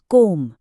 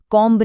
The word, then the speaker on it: comb: COMB, इसका उच्चारण है कोम, कॉम्ब नहीं।